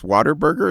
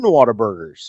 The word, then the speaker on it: Whataburger: Well, and are you make saying that 10 Whataburgers? Are you saying water or wada? What? Whataburger. It's like one word though. What's a burger? Everybody kind of says Texas accent. It's Whataburger.